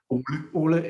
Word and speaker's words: Ole: How do you pronounce his name? Is it Ole? Ole, yeah.